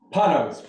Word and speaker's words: Panos: Mr Panos I would sure you pronounce it Panos Panos perfect okay please please go